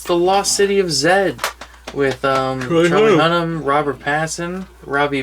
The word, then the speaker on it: Z: money um yeah and it pronounced the lost city of zed that's how they say in the movie hey it's the many